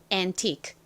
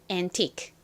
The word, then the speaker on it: antique: QUE 덩어리로 크 소리가 납니다. 자, 그래서 읽어보면 antique, antique. 빠르게 발음하면 K 소리가 약하게 나서 antique처럼 들립니다.